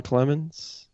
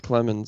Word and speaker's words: Clemmons: Yeah, it's pronounced Clemmons, I believe. Could be wrong, but I think it's Clemmons. Yeah, actually, that's right. What do I call him? Selmons? Yeah, Selmons. it's C-L, so it's definitely not Sel.